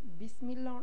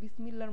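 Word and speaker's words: بسم الله: তো যেমন বিসবি এর ক্ষেত্রে হচ্ছে সিন। আর সাটা মানে অন্য একটা অক্ষর। তো বিসমিল্লাহ বলতে গেলে অনেক সময় বিসমিল্লাহর মত উচ্চারণ হয়। বিসমিল্লাহ। তো এটা আসলে ভুল।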